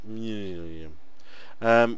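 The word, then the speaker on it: Manyullyn: There you go, that's how you say it, millennium.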